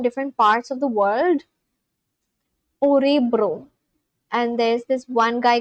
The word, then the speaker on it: Örebro: Orebro. How do you pronounce this? I feel like the O is pronounced in like a different way and it's not O.